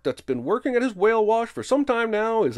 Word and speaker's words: Whale Wash: Whale wash rhymes with gosh.